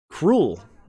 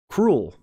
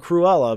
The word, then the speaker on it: Cruel: we're going through here cruel it's her name cruel not Cruella but cruel I was thinking